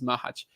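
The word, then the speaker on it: Macháč: say mahaj is okay I think the general like Czech pronunciation is mahaj but um yeah whatever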